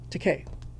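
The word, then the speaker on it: Takei: Teay rhymes with tupe.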